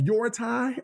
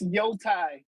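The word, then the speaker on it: Yōtei: Now, Ghosts of Your Tie. Did I say it right, Viper? No, it's Yotai.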